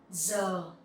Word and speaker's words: giờ: So number one, giờ. Giờ is hour. Giờ, here you will see the G-I sound, you will pronounce like Z sound in English.